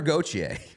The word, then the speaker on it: Gauthier: fresh a name that we do know cutter goer we've learned we've learned how to pronounce that one months ago but cutter goer uh has signed with the Ducks but more